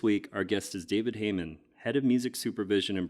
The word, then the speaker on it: Hayman: I am pronouncing that right, Hayman? Hayman, yeah.